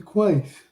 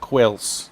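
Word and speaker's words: Quaice: Quace. That's correct. And that's the correct pronunciation, not Quails.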